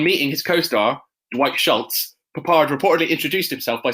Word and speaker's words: Peppard: 1, I'm a dick, and 2, it's pronounced Papard.